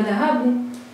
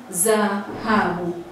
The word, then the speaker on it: dhahabu: Tunaposema dhahabu, hili neno kuna herufi zinatamkwa kwa kutumia ala ya meno. Kwa hiyo huyu mtu atashindwa kusema dhahabu, atasema zahabu. Atasema zahabu kutokana na kutokuwa na meno.